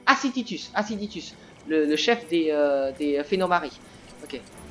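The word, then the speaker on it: Venomari: Et ah mon dieu, Aciditus, Aciditus, le chef des Phénomaries. Ok. Des Phénomaries, ça s'appelle des Vénomaries. Je prononce à la façon allemande.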